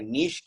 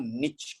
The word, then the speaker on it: niche: Eka niche kiyanna puluwan, niche kiyanna puluwan. Both are correct. You can say niche.